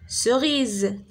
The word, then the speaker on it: cerise: D'accord, cerise. C'est avec I, la même chose, se prononce si, comme citron, ciboulette. Il y a plusieurs mots.